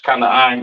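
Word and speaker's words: כנען: Excuse me, Canaan in the English, Kanaan in the Hebrew.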